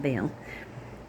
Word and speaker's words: Baal: In the 36th year of Asa's reign, Baasha, Baasha, or Baasha, because people Baal, most commonly pronounced Baal, king of Israel, went up against Judah and